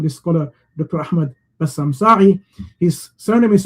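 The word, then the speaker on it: Saeh: Ahmad Bassam Sa'i. His surname is spelled S-A-E-H in English, Sa'ih.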